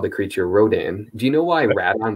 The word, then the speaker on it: Rodan: 93 film, in English, they ended up keeping the Japanese pronunciation, which is Radon. Typically, we've always said when the film came to the United States, they always called the creature Rodan.